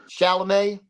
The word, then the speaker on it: Chalamet: Timothy Chalamet.